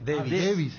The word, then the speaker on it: Davis: No, y a mí me sale Davis. Y es Davis. Davis. Lo que pasa es que David en inglés. pero David Beckham. Yo particularmente le pregunté al colombiano de 23 años, de Barranquilla, ¿cómo se pronuncia? Y Davis, así como se escribe.